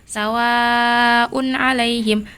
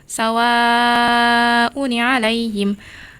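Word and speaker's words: سواء عليهم: Cara bacanya yaitu sawaun alaihim. Saat wasal dibaca sawauni alaihim. Muncul nun wiqayah setelah tanwin dumah.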